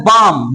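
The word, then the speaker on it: balm: देखिए, कम इसका था शांत, यहाँ भी एल साइलेंट है। इसे क्या पढ़ते हैं, बाम।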